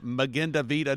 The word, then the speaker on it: Magen Adom: You are a paramedic with the organization, and I'm trying to get the pronunciation. Magen Adom.